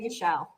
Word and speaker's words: Michel: I pronounce his last name Sony Michelle, but it's not. Is it Michelle? Okay. I get nervous sometimes. How else would you say it? I don't know, like Mikel. You said it right.